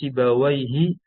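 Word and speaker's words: سيبويه: Yang ketiga sibawaihi ya, dibacanya sibawaihi itu lil kasrah, dia mabni atas kasrah, ini nama orang dan bahkan nama ulama ya.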